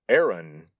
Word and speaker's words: Aaron: that's this guy, Aaron, pronounced today in English as Aaron.